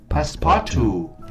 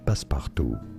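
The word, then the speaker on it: passe-partout: make sure to stay paspartu is how you say it in English from French paspartu and now you know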